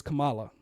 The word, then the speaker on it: Kamala: black and Indian, and they wouldn't even say her name right. Kamala. It's Kamala.